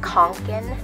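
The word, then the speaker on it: Kånken: Oh, so yeah, if you're wondering, the pronunciation is Fjallraven Kanken. That's how they pronounce it.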